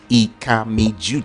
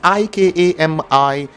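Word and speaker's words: Ikami Judeh: I am Ikami Jude. It's spelled IKAMIJUDEH.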